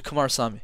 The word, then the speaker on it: Kumarasamy: and and so you give us the correct pronunciation of that before we finish no you got it actually Kumar Sami yeah yeah wonderful hey look Brendan it's been